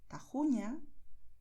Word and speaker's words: Tajuña: Por eso, en muchas zonas donde se habla el español, los nativos dirán Jalisco, Ojeda, Jipijapa, Tajo, Tajuña, Gerona, Gijón. ¿Ves? Es garganta, pero no estamos forzando.